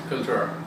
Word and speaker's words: Kaltura: Yeah, Kaltura.